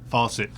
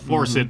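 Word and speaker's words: Force It: My number five is Faucet. And the reason I say it like that is if you look at the cover, there's all kinds of faucets. It's called Forcit, but there's faucets all over.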